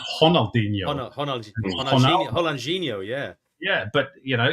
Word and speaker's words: Ronaldinho: along I mean the other one is um Ronaldinho and Ronaldo oh yes it's honalo Hino yeah yeah but you